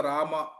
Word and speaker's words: ರಾಮ: ಅನ್ನುವಲ್ಲಿ ಹರೇ ಹರೇ ಹರೇ ಅಥವಾ ರಾಮ ಅನ್ನುವಲ್ಲಿ ರಾಮ್ ರಾಮ್ ರಾಮ್ ರಾಮ್ ರಾಮ್ ಅಥವಾ ರಾಮೋ ರಾಮೋ ಅಥವಾ ರಾಮ ರಾಮ ಕೃಷ್ಣ ಕೃಷ್ಣ ಸೋ ಈ ರೀತಿ ಎಲ್ಲಿ ಒತ್ತು ಕೊಡಬೇಕು ಅಲ್ಲಿ ಒತ್ತುಕೊಡಬೇಕು ಎಲ್ಲಿ ಅಕಾರ ಇದೆ ಅಲ್ಲಿ ಅಕಾರನೇ